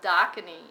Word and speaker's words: Dakini: Well, actually, the proper pronunciation, it is from a Tibetan modality. It is called Dakini, and what Dakinis actually are they are bridgers between worlds.